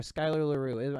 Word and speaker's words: Skyler Larrew: And then, or Skyler Larrew. Am I pronouncing that correctly?